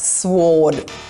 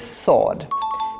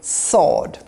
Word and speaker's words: sword: This is not sword. This is sword. Skip pronouncing the W. Just say sword.